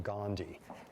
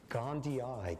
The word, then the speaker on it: gondii: And toxo not Gandhi in the Gandhian sense, but probably because it's even pronounced differently. Okay, how are you pronouncing it these days? Gondii. Gondii cuz there's two i's at the end, which the old Mahatma